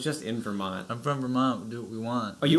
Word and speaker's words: Vermont: I didn't we even know We don't pronounce this. Our T's. We say it like a D.